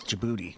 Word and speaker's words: Djibouti: Is that how you pronounce it? Djibouti. Yeah, it is. Djibouti.